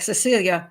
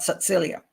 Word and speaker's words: Cecilia: Okay, like Cecilia, but Cecilia.